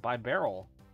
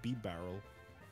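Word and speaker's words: Bibarel: Yo, it's a by barrel. I've never this. Heard anyone pronounce it that way before. Wait, really? Yeah, I thought it was B barrel. No, I say by barrel. If you say it like yeah, I say by barrel. B barrel. By barrel. To me, it doesn't make sense to say B because, yeah.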